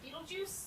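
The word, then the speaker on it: Betelgeuse: like it looks like a sneeze but it's pronounced with beetlejuice um it's a star in the constellation orion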